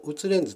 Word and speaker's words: Wtulens: But I pronounce them all "Utulens", so please keep in mind about it.